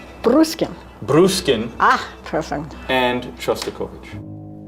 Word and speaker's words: Bruskin: Bruskin.